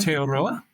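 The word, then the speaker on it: Aotearoa: Is it is it pronounced attoria? Is that right? Alteoroa.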